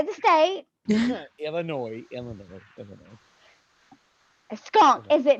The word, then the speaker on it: Illinois: no say the St Illinois Illinois Illinois skunk is it not I was taught this I got actually slapped for this is it is the S silent the S is silent I got slap for